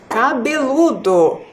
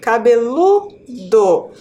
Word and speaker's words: cabeludo: a palavra sorteada foi cabeludo e agora cabeludo levou o assento ou não Não Né crianças observem lá que a sílaba mais forte foi a penúltima cabeludo então não levou o